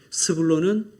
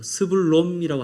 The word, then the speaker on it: 스불론: 발음 잘하십시오. 스불롬이라고 하시면 안 돼요. 스불론.